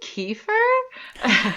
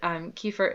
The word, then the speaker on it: kefir: So I learned kefir is an Americanized pronunciation. But they're both totally usable and no problem with saying either one either way.